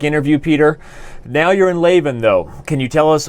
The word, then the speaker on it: Leuven: In fact, the Dutch pronunciation, and we are in Flanders, so they do speak Dutch here, is Leuven, but I won't blame you for that one.